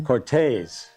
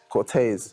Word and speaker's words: Corteiz: covering a drop by the one the only cortiz or however you say it let's get into it all right let's hear it so that's from the the pronunciation Channel Cortez Cortez I like it because you say yeah some